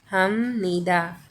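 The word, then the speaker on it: 합니다: नी द ऐसे है बट हम उसे क्या बोलेंगे हम निदा हम नी द हम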